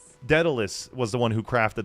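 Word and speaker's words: Daedalus: I don't know why Datalus came.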